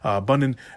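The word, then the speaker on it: Bunin: I almost mispronounced his name. Bunnen.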